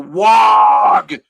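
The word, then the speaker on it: Waaagh: And he was destined, he believed, to unite the orc race in a single, unstoppable wog.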